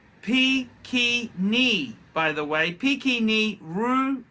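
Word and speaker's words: Pequignet: We've got it's pronounced Pekini, by the way.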